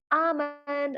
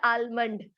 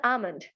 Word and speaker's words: almond: Look at an alphabet L that is going to be silent here.